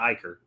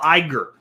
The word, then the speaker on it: Iger: No, it's not Iiker. It's Bob. No, I got to look it up now because you guys you guys are all wrong. CEO of Disy. I always get his name wrong. Bob Iger.